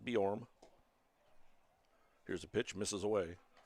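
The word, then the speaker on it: Bjorem: Borm is B J O R E M. Pronounced Borm.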